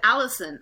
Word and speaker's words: Alison: americans do right because my name has l and r in the same word and l and r are very confusing for me and i believe for a lot of the asian people to learn how to distinguish lnr and but i said allison i didn't say arizona or aerie arie whatever you know yeah now i can